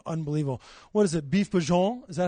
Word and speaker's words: bourguignon: Beef bourguignon?